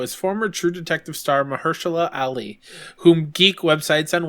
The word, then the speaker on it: Mahershala: it well is because i'm thinking mh like they're using the h twice but it's only one age in the name that's the thing that